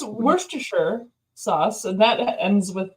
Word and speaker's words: Worcestershire: That's not how you say it. Yeah. It's Worcestershire.